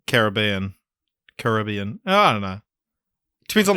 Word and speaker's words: Caribbean: So today we're talking about Pirates of the Caribbean, and just off the bat, I'm going to be pronouncing it Caribbean, not Caribbean.